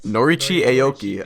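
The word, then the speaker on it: Norichika Aoki: Norichi Aoki, I believe.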